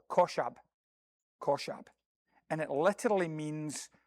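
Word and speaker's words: חשב: It's a Hebrew word that's pronounced, as far as I know, koshab.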